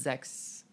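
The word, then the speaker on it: sechs: she did say that the S sound is more of a z like a soft z sound so it's Zex is I'm probably not saying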